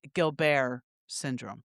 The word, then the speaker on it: Gilbert's syndrome: it's spelled Gilbert's syndrome syndrome, but it's pronounced Gilbert syndrome.